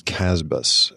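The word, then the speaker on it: CASBS: Center for Advanced Study in the behavioral sciences casbahs is the way it's pronounced and it's a Stanford fellowship program that's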